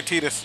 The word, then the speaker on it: Titus: Fang yeah I know why do you say Titus instead of Titus uh because that's what the game says they never say his name oh the cidia says his name the name yep they say they say tetus oh oh they say tetus okay yeah they say tetus but I still don't